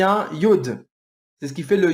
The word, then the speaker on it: Yod: veux que vous marquiez Yod. Y-O-D. Yod. Donc, entre Abraham et Sarah, vous marquez Yod. Y-O-D. Le Yod, ou le Yud, comme on le dirait dans une prononciation un peu plus correcte, le Yud, sa valeur